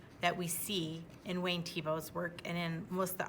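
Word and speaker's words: Thiebaud: it what's this t plus bow you're right Tebow that's how you pronounce his name his name is Wayne Tebow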